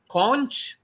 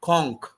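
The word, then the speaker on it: conch: words English student so we call it as con con in brit British English and in American English we call conk c n CH c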